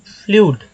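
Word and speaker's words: flood: देखिए फ्लड, एफ से फ, एल से ल, उसमें डबल ओ का उच्चारण डबल ओ के लिए अ का इस्तेमाल किया गया है, डी में अ लग गया तो फ्लड।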